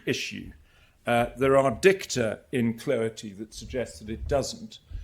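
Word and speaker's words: Cloete: Now, the leading case here is a case on the slide, IG Index and Cloety, that's how you pronounce it.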